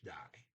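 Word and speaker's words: deg: have a note here d-e-g pronounced die sentence 7-1907 yaihar ika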